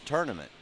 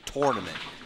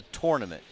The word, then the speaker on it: tournament: said listen it's pronounced tournament you don't go out on tur you go out on tour so it's a tournament and ever since then